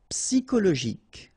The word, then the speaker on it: psychologique: and then Y is pronounced like I, psy, and then it's an exception here because normally we should pronounce it chaud, okay, but then we pronounce it co.